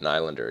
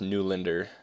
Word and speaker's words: Nylander: Like, I'd love to get Nylander again, or it's actually like pronounced Newlander. Newlander, that's how you say it.